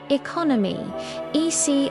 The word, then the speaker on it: economy: Economy. Earmi. Stress on second syllable.